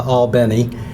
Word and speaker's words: Albany: further please understand that i pronounced at albany like the city in new york even though i'm a